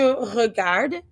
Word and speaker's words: regarde: Again, it's just the ending. Sometimes it's silent. We know that about French.